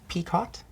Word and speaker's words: picot: I say this correctly peacott edging I hope it's not French because then it would be pronounced differently but this type of